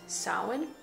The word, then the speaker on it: Samhain: It was called Samhain, and sometimes pronounced Samhain.